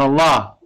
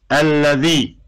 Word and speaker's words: الذي: It's not Allah. It's Alladhi. It's not the name Allah.